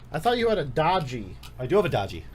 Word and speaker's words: Doogee: It's pronounced Doogee.